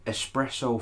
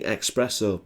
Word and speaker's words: espresso: not sure you're pronouncing espresso properly there what the it's definitely espresso it's spelt that way there's no x in it it's not italian and